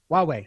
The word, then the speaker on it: Huawei: story like about how I think it's pronounced who I the Chinese phone manufacturer technology Huawei there you go Huawei the story of Enron